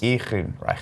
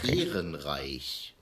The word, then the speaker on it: Ehrenreich: Oh, it's just the same pronunciation one. of the name is Ehrenreich. Ehrenreich.